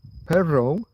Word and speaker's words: pero: And supposedly you can hear a difference in Spain between a single R and a double R. So pero means but pero means dog.